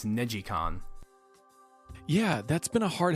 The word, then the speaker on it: NeGcon: released with different ridge racer games i always pronounce the first one is negcon apparently it's negicon yeah that's been a hard habit to break